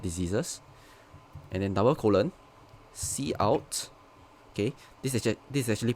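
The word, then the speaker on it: cout: and then double colon c out okay this is actually pronounced c out like c the the c from c plus plus and out which stands for output and then you need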